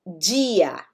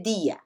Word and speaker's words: dia: Ela vai ter um som mais parecido com o inglês D, né? Então eu normalmente digo dia. Que dia é hoje? Dia. Então é um D mais próximo do som no inglês. Algumas regiões do Brasil, principalmente, por exemplo, próximo de onde eu vivo aqui, no estado de São Paulo, as cidades de Taquaritinga, né? A região ali de São José do Rio Preto, eles costumam dizer dia, tá?